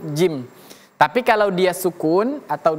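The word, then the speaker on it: جيم: Sebenarnya gampang seperti dalam kita bahasa Indonesia kita menyebutkan huruf J. Nah kalau kita mengucapkan huruf J, nah itulah dia seperti huruf jim.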